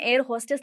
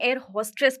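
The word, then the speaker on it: air hostess: एंड उस वक़्त मैं एयर होस्टेस नहीं बोलती थी, मैं एयर होस्ट्रेस प्रोनाउंस करती थी एंड क्योंकि मुझे पता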